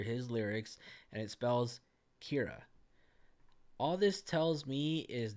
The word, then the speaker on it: Keira: If you take a look at this little second verse right over here, the first letter of each sentence says, or it's spelled K-E-I-R-A, Kira.